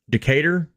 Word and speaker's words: Decatur: How'd you pronounce the place where it was at? Is that 20K? It was the Decatur. Decatur, yeah, the Decatur Deathmatch, CEDH.